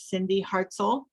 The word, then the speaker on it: Cindy Hartzell: Her name is Cindy Hartzell. And am I pronouncing that correctly, Cindy?